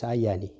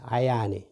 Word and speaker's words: ayani: is ayani ayani so you can say double double y not not single single eye because if you if you put single y sorry that's going to pronounce hayani ayani is a dead person this is ayani so